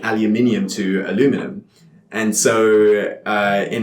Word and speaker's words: aluminium: aluminum and yeah but in Britain it we retained aluminium after very very strange to me what sounds cool I can't say it like that yeah aluminium yeah they have you aluminum where just what are we doing what are you doing what are we doing we're keeping the eye in the middle short sound